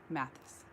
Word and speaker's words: Mathis: just kentucky thank you math mathis is how you say your name mathis oh look at that i was way off hello to virginia i